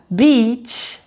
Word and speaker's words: beach: Donc tu as beach, beach, bitch, bitch. Donc tu vois en fait, ce que j'aime dire, c'est que quand tu prononces le mot plage, donc beach, donc tu vois, je souris même sans le vouloir. En fait, c'est un i souriant. Donc ta bouche s'ouvre un peu plus.